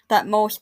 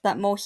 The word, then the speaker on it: Thutmose: Thutmose Thutmose is been pronounced both ways that I've heard.